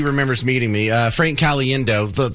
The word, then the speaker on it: Caliendo: things he said Frank cendo yeah you spell it see alien do and I've have always